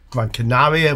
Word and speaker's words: Gran Canaria: I'm in Gran Canaria, or Gran Canaria, which is the correct pronunciation.